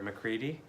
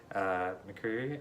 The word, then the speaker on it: McCreary: I also have to compliment the score by Bear McCready. McCreary, I think that's how you say his name.